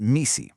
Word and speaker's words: MECE: This concept, MECE, you pronounce it MECE, is a non-negotiable golden rule.